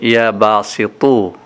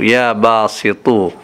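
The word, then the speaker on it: يا باسط: এখানে ত দিয়ে উচ্চারণ হবে, অতএব একটুখানি মোটা উচ্চারণ হবে, ইয়া বাসিতু, বাসিতু না, তা পেস্তু না, ত পেস্তু, বাসিতু, ইয়া বাসিতু, ইয়া বাসিতু, ইয়া বাসিতু।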